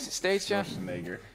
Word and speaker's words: Schwarzenegger: Schwarzenegger. That poor bastard, huh? That's how you say his name.